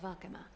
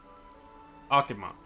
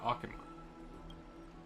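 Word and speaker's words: Okhema: Trian will be going there as the diplomatic messenger of Akama, and Castorus will be accompanying I keep pronouncing it wrong. Akama. Gotta remember that. Akama.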